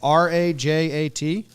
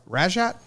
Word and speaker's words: Rajat: wildly wrong how like r-a-j-a-t raja rajat rajat i think you do pronounce the jays rajat rajat not sure